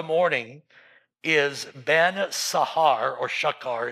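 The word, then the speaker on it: שחר: So it is um Lucifer son of the morning is Ben Sahar or Shakar it's pronounced.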